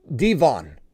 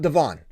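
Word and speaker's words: D'Von: And he said, not only are you guys pronouncing my last name wrong, it's Achane, it's also Devon, not Devon.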